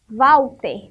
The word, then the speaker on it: Walter: Mas e se eu botar o W, fica Walter. Então, aqui, para completar essa palavra, nós usamos o quê? O W. Walter. Tem som de V na sílaba.